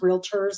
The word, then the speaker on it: Realtor: huge pet peeve amongst Realtors so I'm just going to tell you realtor has two syllables not three so one of the fastest